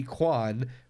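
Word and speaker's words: Quan: K-U Kwan. Ki Kwan.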